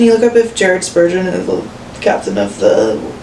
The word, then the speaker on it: Spurgeon: Can you look up if Jared Spurgeon is the captain of the Wild Ninko? Um, but just like in Jared Spurgeon, let's pronounce that. Spurgeon. Spurgeon. I don't know. Okay. like surgeon.